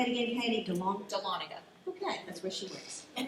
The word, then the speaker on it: Dahlonega: So it's Dahlonega. Thank you so much. That's it. I never have known how to say that. Thank you. Say it again, Katie. Dahlonega.